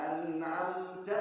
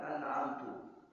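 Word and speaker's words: أنعمت: ada yang bacanya siratalladzina an'amta yang benar anamta Ada yang bacanyaatadzina anamtu alaihim. Ini salah. Harus baca anamta. Jangan anamtu.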